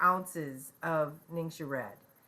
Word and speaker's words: Ningxia: First, each day, right off, start out with 2 to 4 ounces of Ningxia Red. It's pronounced Ningxia, Ninsha, Ningxia, and it's found, there's a 2-ounce sample in the Premium Starter Bundle.